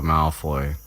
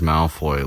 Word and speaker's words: Malfoy: in the first book, he pronounces Malfoy like alternately with emphasis on the first or the second syllable.